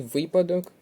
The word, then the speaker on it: випадок: склад не підходить наголос і випадок наголос на перший склад правильний варіант обіть Правильний